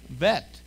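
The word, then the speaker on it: ב: That dagish is a be. But without the dagish, it's a what? Vet.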